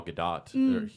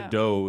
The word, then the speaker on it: Gadot: Godot is like the way of like that's. I think that's like the French? whatever the French pronunciation or whatever. I don't know what the etymology of that is, but since she's Israeli, it's pronounced Gadot.